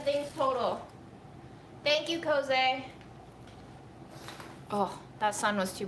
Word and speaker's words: Koeze: Pronounced Koeze.